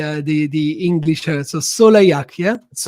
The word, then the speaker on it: Soleilhac: So sole like a sun the sun in French. Sole exactly a and then ak without the the h the uh the the English. So Soleak. Yeah. So yak.